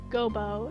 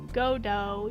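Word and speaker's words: Godot: then a prosecutor Gobbo see the T is silent that's why I didn't say GoBot it's not Gobbo it's godo your honor in any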